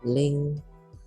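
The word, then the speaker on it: 零: Yang pertama ada angka 0 atau disebutnya ling. Naik ya, i-nya, perhatikan intonasinya dan cara membacanya. Ling, ling, i-nya naik ya tandanya. Oke, yang kedua, lalu ada angka 1.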